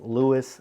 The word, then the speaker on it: Lewes: Delaware more specifically lwis Delaware and yes it's pronounced Lewis not L well never fear that's exactly what